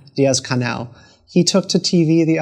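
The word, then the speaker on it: Díaz-Canel: regime has, but President Diaz, how do you pronounce his last name? Diaz-Canel.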